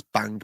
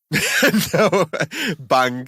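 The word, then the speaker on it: bhang: it's gat got yeah so i'm pronouncing this bang b-h-a-n-g got bang you just can't call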